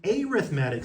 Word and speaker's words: arithmetic: Partial fractions, sequences, arithmetic sequences. By the way, it's pronounced arithmetic because it's being used as an adjective, random fact.